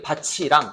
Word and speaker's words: 밭이랑: 이럴 때는 당연히 밭이랑 이렇게 발음합니다.